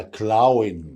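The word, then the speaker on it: Clown: ممكن تتنطق تسي، ممكن تتنطق كي زي الكلمه دي. قول معايا كلاون.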